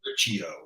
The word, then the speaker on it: Riccio: Am I pronouncing her name correctly, Bob? It's Riccio, R-I-C. Riccio.